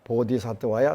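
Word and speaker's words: बोधिसत्त्वाय: 원 산스크리트는 옴 사르와 붓다 보디사트와야 스와하. 옴 그 기원합니다.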